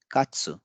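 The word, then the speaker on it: カツ: कात्सु, कात्सु जैसा हमने बोला था कि अंत में अगर उ की मात्रा है तो उसमें भी थोड़ा सा हल्का हो जाएगा उच्चारण, तो इसे हम कात्सु नहीं कहेंगे, इसे कहेंगे कात्सु।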